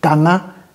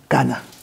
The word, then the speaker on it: Kana: Je que je suis bass et mon nom se prononce Kana et non Kanaa.